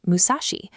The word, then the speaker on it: Musashi: In Japanese the syllables six, three, and four can be pronounced Musashi the name of the ancient province that once encompassed this region.